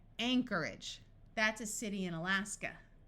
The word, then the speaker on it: Anchorage: some more words where CH sounds like the letter k Anarchy Anarchy Alchemy Alchemy Anchorage notice that the o r takes on a muffled R sound and AG g at the end of a word rather than having a clear long a sound and sounding like age tends to take on an edge sound Anchorage that's a city in